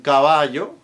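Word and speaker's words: caballo: This applies to the double L as in cavayo horse. Aya there over there.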